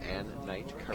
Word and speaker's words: Ann Knight Karash: Ann Knight Karash.